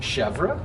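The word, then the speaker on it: chèvre: often asked what do you pronounce it you pronounce it chevra and uh i say well we're americans we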